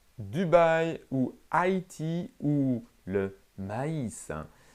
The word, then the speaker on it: maïs: où haïti où le maïs pour ne pas prononcer est un groupe de voyelles il faut le prononcé à hisser pour faire ce qu'on appelle une diphtongues aïe aïe l'accent souscrit